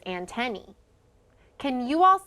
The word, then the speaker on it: antennae: insect body part is antennae so sometimes you might hear people call them antenna or antenae but the right way to say it is antenny can you all say